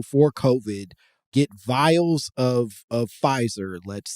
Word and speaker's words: Pfizer: COVID, get vials of Pfizer, let's say, that are basically meant to be dedicated. You're already off course on Pfizer. You're like, no, I'm not here for Pfizer. Yeah. The P is silent, whatever.